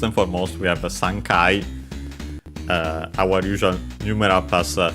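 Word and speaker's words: 三回: First and foremost we have a Sankai uh our usual numera pass counter combination. uh three uh pronounced as suns with its Chinese reading of course because kai is uh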